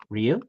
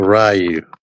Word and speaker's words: Ryu: tell the people again how you say his name Ru yes it says it in the game yeah it's not rayu who says rayu a lot